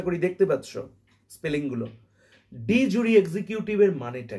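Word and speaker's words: de jure: ওকে, এটার একটা আলাদা রকমের উচ্চারণ রয়েছে, তোমাদের সুবিধার জন্য আমি ডি জুরি এক্সিকিউটিভ বলে উচ্চারণটা করলাম। ওকে, এটার অ্যাকচুয়াল প্রনাউন্সিয়েশনটা কিন্তু আলাদা। ওকে, ডি জু এক্সিকিউটিভ এরকম অ্যাকচুয়ালি প্রনাউন্সিয়েশনটা।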